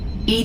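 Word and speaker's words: EDI: are you named Ed Ed is the phonetic pronunciation of Eed that is an acronym for enhanced defense intelligence what do you do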